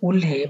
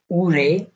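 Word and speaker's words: 올해: হে, রিডিংটা মূলত হচ্ছে উল হে বাট এটা হচ্ছে উরে, উরে রিউলের পরে যখন হিউত আসে তখন কোরিয়ানরা সেই হিউটাকে উচ্চারণ করে না, সো এটা একটু হালকা বাতাস দিয়ে রিউলটাকে হিউতের স্থানে উচ্চারণ করা হয়।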